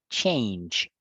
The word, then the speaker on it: change: Eh, sería eh, I chance, La pronunciación es, chance, en presente, la pronunciación es con una A larga. Change, change.